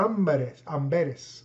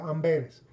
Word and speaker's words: Amberes: Y por eso Casiodoro de Reina tuvo que huir otra vez y fue a Amberes, así se pronuncia, Amberes.